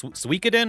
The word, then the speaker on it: Suikoden: All right, I did catch the pronunciation on this. It's Suikoden, right?